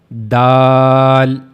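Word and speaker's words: دال: So it is dal. Dal. Now how to pronounce dal and what is the origin of dal?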